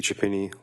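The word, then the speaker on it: Chiappini: My name is Chapini. Last name is spelled C H I A.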